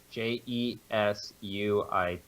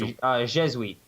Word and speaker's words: Jesuit: cardinal who became the first, how is that pronounced? Let me open it. Jesuit? Jesuit. Yep, it's Jesuit.